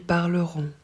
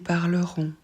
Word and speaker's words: parleront: on le prononce enfin on prononce pas le T mais on prononce bien le o n en